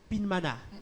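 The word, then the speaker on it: Pyinmana: Ça s'écrit P-Y-I-N-M-A-N-A. Je vais lire ça. Pinmana.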